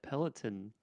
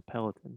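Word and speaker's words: Peloton: and delivered a a peltin are you sure you're pronouncing that correctly P peleton how do you say it I think it's pellaton you know that's just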